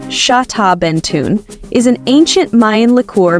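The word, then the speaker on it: Xtabentún: right history nerds this one's for you xtabentun pronounced shaben tun is an ancient Mayan Lor made from fermented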